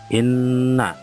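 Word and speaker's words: إنّا: Di situ ada tulisan inna. Nah, di atas nun ada tasydid, maka dibaca mendengung.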